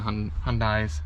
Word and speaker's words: Hyundai: It's Hyundai, like Sunday. Hyundai. Okay. Hyundai. Well. That sounds nicer than Hyundai. I guess. I don't know. Hyundai.